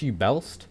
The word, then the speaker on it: Uebelst: hands on it and is it pronounced ubel I'm not sure yist you I think ubel is right it's German and I'm not familiar with how they say things I think it's German I hope it's German yeah it's German UB bels I I keep thinking you know like an arist like that crossbow type thing arist uist but I don't think it's pronounced the same oh we'll just go